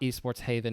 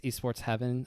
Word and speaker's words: Esports Heaven: staff writer at it's it's not esports haven it's esports heaven i'm sorry i think